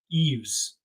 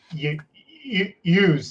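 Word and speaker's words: ewes: rams offers the goddesses eve use or i don't know how to pronounce this uh it's e we s yeah okay y use that's that's oh thank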